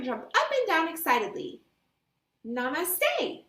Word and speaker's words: Namaste: and slowly bow toward Miss Rabbit how to pronounce Namaste Namaste Namaste Madame Gazelle is right the children feel